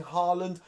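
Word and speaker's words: Haaland: how I err Ling Harland I think is how you pronounce it the Norwegian striker who's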